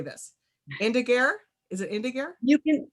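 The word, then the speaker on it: Indagare: how you say this indigeir is it indigenous you can it's a dead latin word so you can say it however you like we tend to use the more italian pronunciation which is indigari i'm going with that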